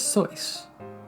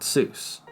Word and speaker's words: Seuss: So was both Geel's middle name and his mother's maiden name and was pronounced as So not Seuss.